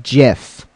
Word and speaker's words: GIF: okay that works yep like the peanut butter that's actually how you